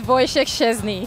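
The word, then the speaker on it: Wojciech Szczęsny: It is Wojciech Szczesny. So can you say 10 times now that I have told you how it's pronounced?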